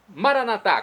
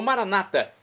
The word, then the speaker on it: Maranata: E agora eu clamo do aramaico, dialeto de Jesus, Maranatá, como dizemos nós católicos, ou Maranata, como dizem nossos irmãos separados das comunidades evangélicas ou protestantes. Não importa, a pronúncia e o significado é o mesmo.